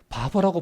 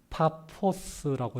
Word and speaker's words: 파포스: 그래서 이게 이제 우리나라 그 번역을 하다 보니까 바보라고 번역했어. 이거 뭐 이름이 하필 바보냐 어떻게? 그래서 좀 우습기도 한데 원어적인 발음을 하면은 파포스라고 이렇게 이야기할 수 있습니다.